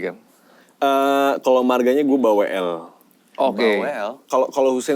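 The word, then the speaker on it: Balwel: Kalau gua balwl sebenarnya tulisannya balw b a l w e l cuman kita ngebacanya jadi l-nya mati gitu. Jadi baw.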